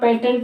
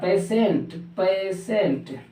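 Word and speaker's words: patient: समय तो ध्यान रखना पेटेंट नहीं होता है क्या होता है पेसेंट यानी पेटेंट नहीं होता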